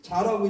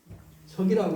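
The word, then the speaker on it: 炙: 근데 저기서는 자라고 읽지 말고 적이라고 읽는 돼.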